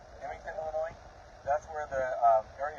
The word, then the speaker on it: Effingham: It's about to cross into Um I think I'm pronouncing this town right. Is it Effingham? Effingham, Illinois.